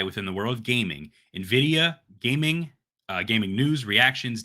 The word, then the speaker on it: Nvidia: Nvidia because I feel like you say Nvidia Nvidia it's Nvidia yeah I feel like you say